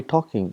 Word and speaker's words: talking: For example, in English we got, for example, talking, we say talking, but when you write, we write L, tall king, but we don't pronounce L.